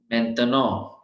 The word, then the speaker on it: maintenant: Next is maintenant or मैं, because AIN is a, मैं, te, te means te, no, because AN is on, it is मैं, te, no, last T हमने pronounce नहीं करना, मैं, te, no, maintenant,